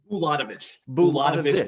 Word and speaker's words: Bulatovich: Now, tell me if I'm pronouncing, because I think it's Djurickovic with just a C, but I think is it Bulatovich? Bulatovich for him, yes. The CH, right.